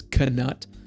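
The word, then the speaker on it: Knut: I've been saying nut my entire life. And apparently the correct pronunciation of this word is kut.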